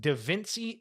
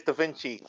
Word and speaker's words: Da Vinci: let you know this it's not pronounced d viny it's D Vinci so how is the correct way to say your name it is Da Vinci he was correct shout